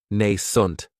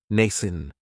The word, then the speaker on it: nascent: Another great adjective is nascent, and this word has 2 syllables, and the stress is on that first syllable. It has the long A sound, nascent. That second syllable has that schwa, nascent.